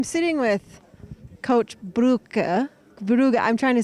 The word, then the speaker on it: Brugge: I'm sitting with Coach Brugge. I'm trying to say his last name. Pronounce it for me. Kurt Brugge. Brugge. We always say Brugger, but I know that's too American.